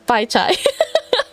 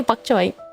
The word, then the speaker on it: bok choy: That is how you say it in um English. Yeah. You would just say buck choy.